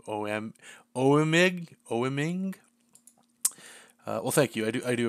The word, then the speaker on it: Oeming: O-M, I always say his name wrong. Oeming.